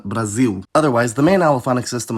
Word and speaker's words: Brasil: In Portugal, /l/ just becomes dark [ɫ] in those situations, while in Brazil, the allophone goes the extra mile and straight-up becomes [w]. I should also mention that I’ve heard dark L used as a phoneme before in Portuguese. Since both countries involved here end with L, I’ll just use them as the examples- we have Portugal and Brasil.